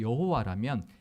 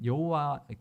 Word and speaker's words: 여호와: 그러니까 하나님의 이름 만약에 여호와라면 이응, 히읗, 이응만 기록되어 있고 읽을 때 그냥